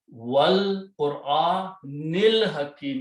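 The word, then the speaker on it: وَالْقُرْآنِ الْحَكِيمِ: When you stop at the ayat, you pronounce Al-Hakim, but when you pronounce along with Wal Qur'anil Hakim, you join noon with this one.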